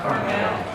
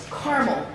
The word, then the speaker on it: Carmel: How would you pronounce the name of this town? See that? Carmel. No, Carmel.